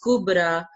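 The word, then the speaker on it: كبرى: Either this ya is there, okay, but we are not pronouncing this ya, and we put a kind of alif on ra, and it is pronounced as kubra, husna, bushra.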